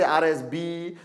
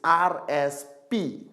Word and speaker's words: RSP: I met some people from some countries, they say RSB, RSS. It's RSP. Retail Sales Points. Retail Sales Points. Don't have to remember. Remember RSP. Simple. Alright? Okay? RSP.